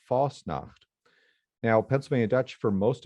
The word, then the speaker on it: Fasnacht: And when Pennsylvania Dutch speakers who have chosen to write the language, then they've spelled it as pretty close as to how it's pronounced, which is without the T, Fasnacht.